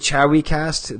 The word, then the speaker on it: 'Chive Cast: are it's actually the chawi cast The V is pronounced like a w oh yeah ch chawi um all right well